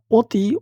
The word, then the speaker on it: অতি: মন মানে শব্দ গুচছে অ এর উচ্চারণ কেমন হবে ওর মত অতি অতি মানে অতি শব্দটা ওর মত হয়ে যাচ্ছে মানে কানে লাগতেছে ওর মত এর মত না সরে ওর মত না অনুচ্ছেদ নাম্বার হচ্ছে নয়